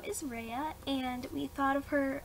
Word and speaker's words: Reya: So her name's Rey, and it's R-E-Y-A, but, well, Reya. And we just decided to make it two syllables, and first we were